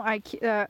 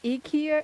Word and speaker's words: IKEA: here the I is actually pronounced as E, like the letter E for in America.